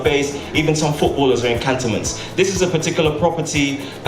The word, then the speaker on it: Cantonments: the market yeah again I'm pronouncing as Cattleman's it's okay yeah alright cantonments Cattleman's is what's known